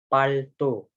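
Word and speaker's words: пальто: Itu dibacanya itu palto. Jadi L-nya itu kayak nyangkut di dalam mulut. Lidah kita nyebut huruf L itu jadi nyangkut. Nah, itu jadi tanda baca lunak.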